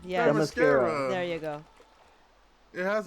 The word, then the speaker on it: Themyscira: pronounce- Yeah, Themyscira.